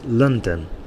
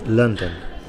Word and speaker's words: London: noun and likewise um to pronounce the capital city of England correctly it's London okay London there a bigger stress at the end there lond uh sorry at the beginning London but two stressors